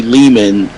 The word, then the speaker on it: Lehman: It's me, Ari Leman. Rhymes with Demon, the first Jason Vorhees from Friday the 13th.